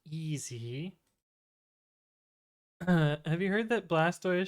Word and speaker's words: Blastoise: have you heard that blastoise should be pronounced like tortoise no no no